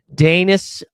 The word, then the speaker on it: Danis: Danis rhymes with anus.